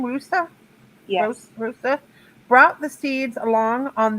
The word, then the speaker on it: Roosa: Astronaut Stuart Roosa, is that how you say his name? Roosa? Yes. Roosa brought the seeds along on the Apollo 14.